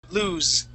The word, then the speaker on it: lose: loose loose okay okay the next word lose lose okay with double always is lose with one with one o it's with a z sound lose with one is is with one o is lose yes lose lose lose okay yeah that's with that z sound okay good okay all